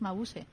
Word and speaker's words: Mabuse: sobre la figura de mabuse que si me permites hacerte una pequeña corrección en el tour ha pronunciado a la inglesa mabus el original que es alemán es mouse luego hablaremos de tu